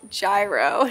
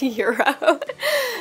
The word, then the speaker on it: gyro: has informed me that it is gyro not Euro so I feel like